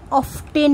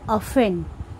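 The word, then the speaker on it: often: ও এ টি এন টি এর উচ্চারণ হয় না অফটেন নয় উচ্চারণটা হবে অফেন অফেন আর রানস অর্থাৎ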